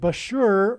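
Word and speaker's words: Bushehr: nuclear power plant and Bashur rhymes with Barker it is predicted that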